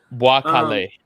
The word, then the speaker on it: Bwa Kale: Bwa Kale.